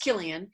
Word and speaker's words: Cillian: in looking more into Killian Murphy and his per name is pronounced Killian even though it's spelled with a c' check them out on